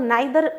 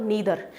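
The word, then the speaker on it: neither: पुरानी इंग्लिश में इनको आइदर और नाइदर प्रोनाउंस किया जाता था, जो कि गलत है। आपको इनको बोलना है ईदर और नीदर।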